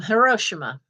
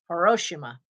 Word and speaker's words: Hiroshima: an aunt who's japanese she's from hiroshima not hiroshima that's not how it's pronounced it's hiroshima and it was market